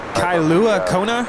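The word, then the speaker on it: Kailua-Kona: Is it Kailua Kona? Is that how you pronounce it?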